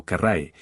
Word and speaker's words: Carras: a la batalla de carre o carráe dependiendo de cómo prefieran pronunciarlo esta batalla fue una de